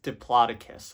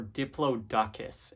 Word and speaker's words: Diplodocus: Okay, next is Diplodocus or Diplodocus if you're me.